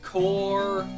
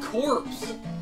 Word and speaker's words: corps: C-O-R-P-S is core. I do say that. You said corpse. But that's how you say it in Lancaster. Okay, but Lancaster's wrong then.